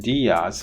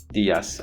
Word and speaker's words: Díaz: So instead of Sanchez, Gomez, Hernandez, and Diaz, which is what you see in the English language videos, you need to pronounce them as Sanchez, Gomez, Hernandez, Diaz.